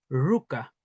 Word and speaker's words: ruka: Mm, depende del contexto Peñi y Lamuen, Peñi pu Lamuen, y es que Mara tiende a acentuarse cuando está aislada en esta sílaba, Mara, así como Ruka, uno tiende a decir Ruka, con el acento acá.